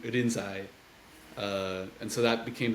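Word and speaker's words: Rinzai: century China uh who's whose name in Chinese was lingy in in Japanese uh would be pronounced more in irinsai uh and so that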